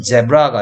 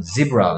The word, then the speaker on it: zebra: 근데 실제 발음은 제브라가 아니고 지브라. 그러니까 이가 이 소리가 아니고, 그치, 이 소리 난 거지.